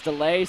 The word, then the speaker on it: Delay: We just got a word from our off-site broadcaster that the correct pronunciation of his name is Delay.